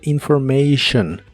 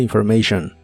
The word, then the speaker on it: information: que significan información personal la t de la palabra information se pronuncia como sh personal information personal information y usaremos las palabras